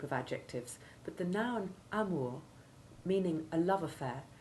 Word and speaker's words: amour: adjectives but the noun amor meaning a love affair retains its french pronunciation rhyming with tour and further to the